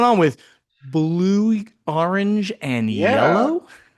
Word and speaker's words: Iello: This is yellow, I E L L, who everybody argues about how to pronounce it.